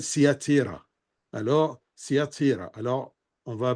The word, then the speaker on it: Thyatire: parmi les 7 églises, c'est l'église de Thyatire ou de Thyatire, ça dépend comment on la prononce. L'ange de l'église, bien sûr, écrit à l'ange de l'église de Thyatire, ou Thyatire, je vais utiliser plutôt Thyatire, parce qu'en arabe, ça s'appelle Thyatira.